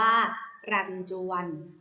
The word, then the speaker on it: รัญจวน: ทำ ต่อ ไป ค่ะ คำ ว่า รัญจวน รำจวน อ่าน ว่า รัน ชวัน รัตน์ จวน ประกอบ ไป ด้วย รอ เรือ ไม้ หัน อา กาด ยอ หยิง จอ จาน ว แหวน นอ หนู ค่ะ รัญจวน ใจ เด็ก ๆ